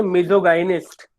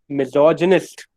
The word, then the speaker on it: misogynist: आधी जनता इसको बोलती है मिजोगाइनिस्ट. मिजोगाइनिस्ट absolutely wrong. Pronunciation is wrong. Absolutely wrong. You should say, मेरे साथ अभी बोलना. I want you to pronounce this at your and. Individually आप करो और देखो आप बोल पा रहे हो कि नहीं. The word is pronounced as मिजोजिनिस्ट.